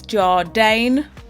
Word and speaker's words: JARDANE: So it's JARDANE. That's exactly how you pronounce it.